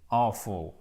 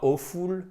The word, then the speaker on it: awful: l'avez compris, it looks awful. Et ce n'est pas awful, c'est awful. OK? Accent tonique ici.